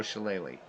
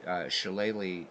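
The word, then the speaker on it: shillelagh: bloody phones and so that's why shalele is spelled the way it is so looks like sh but chele so there you go little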